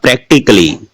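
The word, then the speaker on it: practically: अब देखिएगा प्रैक्टिकली, इसमें कली बोला है और डबल एल वाई से पहले क्या है, ए है, तो ए का उच्चारण नहीं होता।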